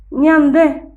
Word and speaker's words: ñande: Ñande, ñande. Muy bien, 2 sílabas. Ña, de. Esta es una letra en guaraní. Tiene un solo sonido.